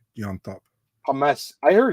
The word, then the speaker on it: Llontop: By the way, I hate to be a dick, but the pronunciation is James Llontop. James. I heard it's Llontop, though, right?